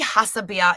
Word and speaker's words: Hassebier: Did I pronounce that correctly? Yeah, Billy Hassebier is my German woman that I play.